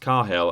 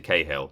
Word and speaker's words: Cahill: game on ps1 ps my name is pronounced carhill as opposed to cahill cheers well sorry brian